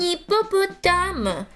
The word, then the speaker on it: hippopotame: C'est un hippopotame, mais je n'entends pas cette lettre dans ce mot. La lettre H ne se prononce pas.